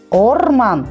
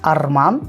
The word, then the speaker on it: орман: вторая особенность казахского языка букву о в казахском языке нужно произносить как букву о например олжа Сулейменов русская язычные говорят алди е говорить на русский лад Атан получится верблюд орман лес если мы будем читать как русско говорящие Арман - это слово совсем